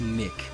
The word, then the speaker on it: Nich: Nich, N-I-C-H, but it's pronounced Nick.